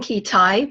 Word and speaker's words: Kitei: Lynne Kitei, pronounced like a key and a tie.